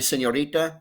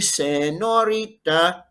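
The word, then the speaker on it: señorita: when you call me senorita without the squiggle it would be i love it when you call me say norita oh my goodness it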